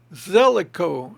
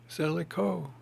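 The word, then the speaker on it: Zelikow: Zellico. How do you spell that? Z-E-L, Zell, I-K-O-W, cow, Zellico. Philip Zellico.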